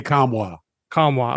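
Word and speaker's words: Nkamhoua: go leave no the I think the N is silent okay there you go yeah Olivier kamwa Kwa okay leave it to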